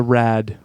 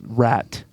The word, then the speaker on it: RAT: There's There's something appealing sometimes about It's not the rad. I said it wrong. It's rat.